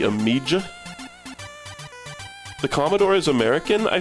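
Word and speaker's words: Amiga: Amigga with a hard G. Amijah.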